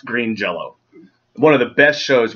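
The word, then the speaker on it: Green Jellö: yellow one of them jelly jealous it's it's pronounced green jello one of the best shows we have ever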